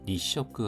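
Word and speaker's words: 二色: 흑백의 니쇼크 하면 이색이 되겠습니다. 두 가지 색. 그리고 여기서 색을 발음할 때 쇼크로 발음한 것을 기억해 두십시오. 보통 이로라는 발음으로 색을 얘기하는데 여기서는 색을 쇼크로 발음을 했습니다.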